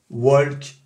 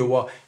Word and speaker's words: walk: tu t'imagines toi évidemment il y en a toujours un ou deux qui vont prononcer le l à et qui vont dire walk plutôt que waouh non on ne prononce pas le l d'accord ni pour work ni pour talk d'accord c'est vraiment ça c'est